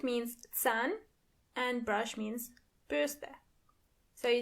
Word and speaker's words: Bürste: Burste. And remember, you don't pronounce the R as R but more like R.